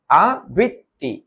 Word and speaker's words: আবৃত্তি: বল এরপরেরটা আমাদেরকে বলা আবৃত্তি আবৃত্তি না কিন্তু আবৃত্তি মূল শব্দটা হচ্ছে আ মূল শব্দটা কি মূল শব্দ হচ্ছে আ আর বৃত্তি তাহলে এটার উচ্চারণ আ মুক্ত তারপর হবে বৃথ তারপর হবে তি আবৃত্তি আবৃত্তি এরপরে আসো এরপরে তাহলে